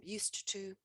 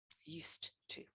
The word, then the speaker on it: used to: Used to, we pronounce the D as a T, used to.